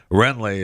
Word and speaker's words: Wrenlee: the W is silent then? Renly.